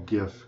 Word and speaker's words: GIF: I'm gonna call it a GIF because that's how I grew up saying it. Somebody might challenge you and say, "No, it's a soft G," and you can just give them a soft G in return.